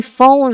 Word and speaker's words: phone: When we say phone, we actually make only three distinct sounds.